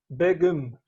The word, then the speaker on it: Begum: Istanbul wow so cool am I saying your name correctly bagel or beagle how do I pronounce it if you can hear you know I can hear it's big yeah actually it's begum is that it yeah